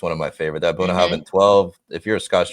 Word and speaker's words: Bunnahabhain: Bunnahabhain. Right? Is that how you say it? Bunnahabhain. See, You can hit that last with a V. Bunnahabhain.